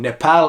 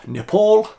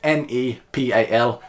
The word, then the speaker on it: Nepal: If anyone's wondering, by the way, why I'm saying Nepal instead of Nepal, because it is actually pronounced N-E-P-A-L, Nepal.